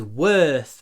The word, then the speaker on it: worth: Не забудьте, что когда мы произносим w, язык вот убирается и двигается вперед и наверх. Worth. И, кстати, намного легче произносить th в конце, если у вас будет вот это положение губ. Губы уточкой.